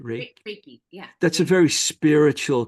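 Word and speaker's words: reiki: you you you said you do reiky did I say it right right raiky yeah that's a very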